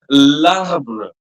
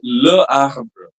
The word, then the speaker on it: l'arbre: So the pronunciation would be l'arbre, l'arbre, not le arbre.